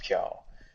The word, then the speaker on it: Piao: translation issue because like in the manga it's written hyo instead of it but it's pronounced piao but then they write